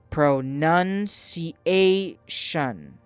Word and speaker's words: pronunciation: Pronunciation. The stress is on the second and fourth syllables.